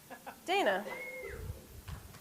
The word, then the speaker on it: Dana: Our name is Dana, right? D-A-N-A. And how do you pronounce D-A-T-A? Data, right? I say data. She said I'm wrong because then my name would be Dana.